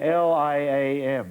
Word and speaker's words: Liam: say there it says l-i say it say l-i-a-m liam yeah oh you said it right then